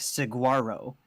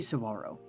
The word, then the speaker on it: Saguaro: because I kept saying it as like Saguaro, like with a very pronounced G, but it's actually Saguaro. Like the G is Yeah. silent.